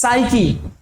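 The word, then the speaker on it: psyche: আর এটার উচ্চারণ কি বলতো? এটার উচ্চারণ হবে সাইকি।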